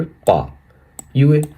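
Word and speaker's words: 八月: अगस्त को हम लोग बोलेंगे पायए। पा यूए। पा यूए यानी अगस्त। यहां पर देखिए चाइनीस पिनियन पा यूए। पा यूए। यहां पर देखिए इसका चाइनीस कररेक्टर पा यूए।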